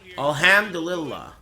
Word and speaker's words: Alhamdulillah: Pronounce the M. Alhamdulillah. Dulillah. Alhamdulillah. It's a hard H.